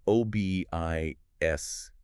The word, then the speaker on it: OBIS: It's O B I S S. The Colorado online brain injury screening and support system. You have to make sure you pronounce it OBIS.